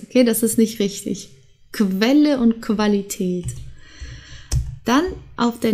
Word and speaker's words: Quelle: Julia der Januar jung dann haben wir qu und das wird zusammen wie kW ausgesprochen also die Quelle die Qualität und die Quantität okay wir haben mehrere Wörter die mit qu beginnen die müssen dann als ausgesprochen werden okay vielleicht kannst du das noch mal wiederholen Quelle Qualität und Quantität okay also nicht Quelle und nicht Qualität okay